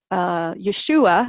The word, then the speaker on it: Yeshua: That's actually how you pronounce his Aramaic name. So whenever he was living, that's what people called him, Yeshua.